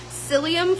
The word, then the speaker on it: psyllium: It has, I'm going to mispronounce this probably, but it's psyllium fiber, which is good.